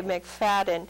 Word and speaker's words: McFadden: guest today is mcfaden or I'm terrible pronouncing names feden is probably the way that lots of people uh in IR correct we say mcfaden okay mcfaden and tell us again